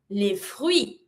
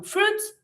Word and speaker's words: fruits: We do not really pronounce the same way as what we do in English. In English, you don't pronounce the I. In French, we do. So we go from fruits to les fruits, les fruits.